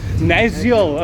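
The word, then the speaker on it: Nasiol: How do you pronounce it? Naziel.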